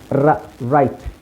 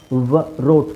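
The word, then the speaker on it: write: ಸೋಡಬಲ್ ಆರ್ ಅಲ್ಲಿ ನೋಡಿ ರೈಟ್ ರೋಟ್ double ಹೇಳಲ್ಲ ಡಬ್ಲ್ಯೂ ಸೌಂಡ್ ಏನು ವರೋಟ್ ವರೋಟ್ ಅಂತ ಹೇಳಲ್ಲ ರೈಟ್ ವರೈಟ್ ಅಂತ ಹೇಳಲ್ಲ ಬರಿ ರೈಟ್ ವ ಸೈಲೆಂಟ್ ಆಗಿರುತ್ತೆ ನೆಕ್ಸ್ಟ್ ಇಲ್ಲಿ ಜಿಎಚ್ ಜಿಎಚ್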